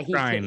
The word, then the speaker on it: Skrein: Did I pronounce his name? Ed Skrein, yeah, Skrein, he excuse me.